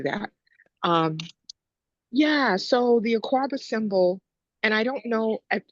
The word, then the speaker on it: Akuaba: so what that particular image is, it's an Aquaba doll, and it's a symbol of protection when a woman is pregnant.